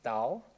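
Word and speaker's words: Tao: And for people who don't know, T-A-O is pronounced Dao. It's just the older way that it was written in many, many historical texts. But it's better to pronounce it Dao.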